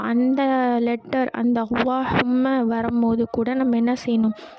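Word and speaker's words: اللهم: சரி, குறிப்பில் வந்து கொடுத்துருக்காங்க, அல்லாஹும்ம என்னும் வார்த்தையை ஆரம்பமாக ஓதும்போது இவ்வார்த்தையில் உள்ள லாமை தஃகீம் செய்து வல்லினமாக உச்சரிக்கப்படும். இப்போ அல்லாஹும்ம அந்த வந்து அதில்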